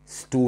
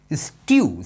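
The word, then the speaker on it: stew: भाई स्टू नहीं होता या स्टू नहीं होता, स्ट्यू।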